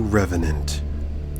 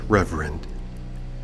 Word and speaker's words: Reverend: Hello and welcome to Revenant. I'm sorry, it's pronounced Reverend.